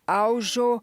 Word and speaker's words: Alzo: O nome Alzo é pronunciado Aljo e é um nome da Tchecoslováquia. Então, comecei a perguntar à minha mãe sobre a família.